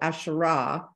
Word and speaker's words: Asherah: would be the hey so asherah has that that long ah sound at the end which is the hey um yeah so of